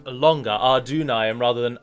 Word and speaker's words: Adûnâim: you in the a it doesn't denote that you should put more emphasis on the you in the middle it just means that it is pronounced a longer our dune I am rather than are denying